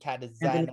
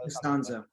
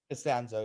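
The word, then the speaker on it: Castonzo: It's Anthony Anthony Catazano. Costanzo. Costanzo, yeah. I can't pronounce his last name correct.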